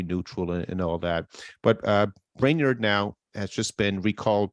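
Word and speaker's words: Brainard: So Lael Brainerd, is that how you pronounce her surname? Yeah, Brainerd. Brainerd.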